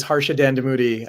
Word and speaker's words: Harsha Dandamudi: No, my name is Harsha Dandamudi.